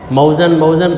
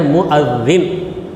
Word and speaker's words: مؤذن: اذان دینے والے مؤذن، موزن کہتے ہیں، وہ یہاں کی زبان ہے موزن، مگر صحیح تلفظ اس کا کیا ہے؟ مؤذن، اذان دینے والا۔ حی علی الصلاۃ 2 مرتبہ، مطلب کیا؟